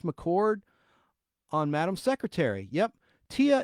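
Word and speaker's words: Téa: Tia is pronounced T, like UH.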